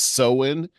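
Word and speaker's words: Samhain: uh Celtic Festival that uh is called It's pronounced seen and uh this is like from 2,000 years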